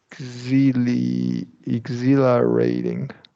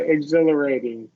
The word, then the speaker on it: exhilarating: so confused running on the beach feels ex exil exil rating exil exil rating and refreshing that's right exhilarating exil exil exhilerating and refreshing yeah this is